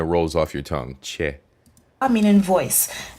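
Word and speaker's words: tjè: How would this word be pronounced? TJE, so ch, right? So che. And che means heart.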